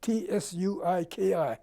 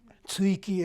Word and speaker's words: Tsuiki: It's spelled in the alphabet, T-S-U-I-K-I, Tsuiki.